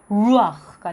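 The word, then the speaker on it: רוח: 그래서 근데 밑에 아까 다음에 모음을 보겠지만 잘려져 있는 이렇게 딱 이런 게 있으면요 아으 발음이 돼요. 그래서 루아흐가 돼요.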